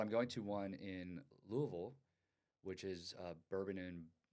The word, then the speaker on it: Louisville: to say it wrong I used to say Lewisville oh okay I Louisville no because I I learned from Jack Carlo oh he was like no you have to let it draw so you have